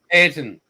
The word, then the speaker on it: Ayrton: Can you help me pronounce the name? Senna? Ayrton or I can't. Ayrton.